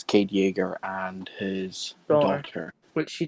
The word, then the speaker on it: Yeager: It's Cade Yeager.